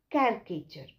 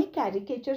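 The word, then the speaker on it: caricature: कॅरीकेचर बोलायचं नाही मी मुद्दाम म्हटलं कॅरीकेचर ह्याच्यात सुद्धा री नाही बोलायचं तर काय बोलायचं आपण कॅरिकेचर ठीक आहे सो कोणी कॅरीकेचर सुद्धा वापरतात पण ते मी मुद्दाम म्हटलं की ऍक्च्युली कॅरीकेचर हा शब्द नाहीये कॅरिकेचर आहे ठीक आहे सो हास्यचित्र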